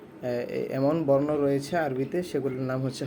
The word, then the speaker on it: ب: তারপর বা, একটু টান হবে।